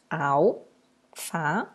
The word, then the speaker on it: alface: Al-fa-ce. Isso você pode fazer mentalmente. Eu trouxe aqui para vocês visualizarem melhor. Quando eu chamo alface, qual é a sílaba tônica? O Fá.